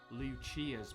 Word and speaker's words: Lucia: baseballers on the scene Yeah, today, this is Lucia. and more importantly, the Steamers' biggest rival. Will Pipe and his friends really be able to overcome Lucia's baseball team? It's pronounced Lucia, but I'll give it a pass.